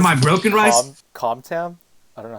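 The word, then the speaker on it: Cơm tấm: I reckon because like com is supposed to be pronounced as gum, and like gum down is basically just like it's a rice dish.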